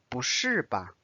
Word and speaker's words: 不是吧: say 不是吧, 不是吧. So notice the tone is different.